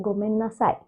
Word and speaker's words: gomen nasai: Again, E is silent, so you can just say gomen nasai.